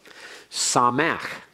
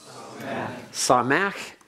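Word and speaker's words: שָׂמַח: today and let's go through this and please pronounce it after me saw Mack saw Mack means he was glad he rejoiced he was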